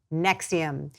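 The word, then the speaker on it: NXIVM: as matt just asked how you pronounce their name is spelled NX IVM nexium the hottest club you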